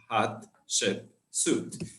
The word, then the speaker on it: Hatshepsut: Who wants to pronounce her name first? Hatshepsut.